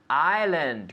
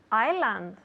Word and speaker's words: island: the people at home Island good because it's not Iceland no no s well there is an S but we don't pronounce it we say Island Ireland Island very good